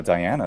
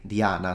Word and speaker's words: Diana: I say in Italian it's just a stress so we just say Diana so we just put the stress in the eye but there is no elongation of of the eye which in fact is